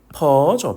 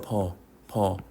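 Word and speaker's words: phở: 쌀국수 퍼죠? 퍼 들어보셨나요?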